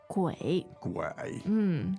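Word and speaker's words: 鬼: in Chinese please Jenny qu gu third tone third tone let's hear it again third tone is always nice let's hear it gu gu not very easy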